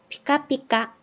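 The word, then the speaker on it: ピカピカ: 이렇게 다른 글자들도 마찬가지지만은 이 같은 글자라고 해도 첫 음절에 올 때는 이 알파벳 P에 가까운 P라는 발음이 되는데 중간이나 끝에 오면은 얘가 발음이 세져요. 그래서 쌍비읍처럼 발음이 돼요. 그래서 피카피카 이런 식으로요.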